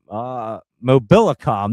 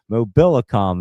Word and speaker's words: Mobilicom: Mobilicom. That's how you say it. Holy cow! Mobilicom is how you say it.